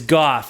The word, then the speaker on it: Gough: It is goth. It rhymes with cough.